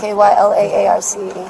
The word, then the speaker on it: Kyla Arce: Spell it for me. K-Y-L-A-A-R-C-E.